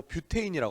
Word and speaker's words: 뷰테인: 거기부터 문제가 뭐라고 나오냐면 이 부탄을 부탄이라고 안 하고 뷰테인이라고 합니다.